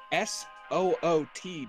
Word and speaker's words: soot: How do you pronounce the word foot? Foot. Okay. How do you spell foot? F-O-O-T. Okay. So, given that convention, how would S O-O-T be pronounced?